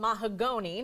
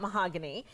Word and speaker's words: Mahagonny: name of the movie It's called mahagoni not mahogany and so that speaks to